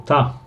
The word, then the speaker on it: to: Pero también se reducen la pronunciación de to y suena como ta.